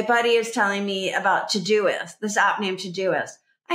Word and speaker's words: Todoist: and it was spelled t o d o i s t it looks like too t o d o i s t and it's pronounce todoist like to-do list todoist but how would you